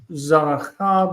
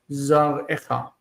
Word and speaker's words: זרעך: And if it's at the end of the verse, so pasuk, zaracha becomes zarecha.